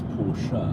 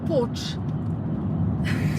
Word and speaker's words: Porsche: Also, I do believe it's Porsche. Not Porsche.